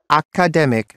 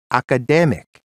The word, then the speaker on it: academic: instead of statistics and I always used to say academic for the word academic you see the Thai